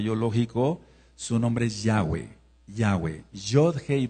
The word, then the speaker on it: Yahweh: Su nombre es Yahweh. Yahweeh. Yod. Hey B hey no se pronuncia como y sino como ya.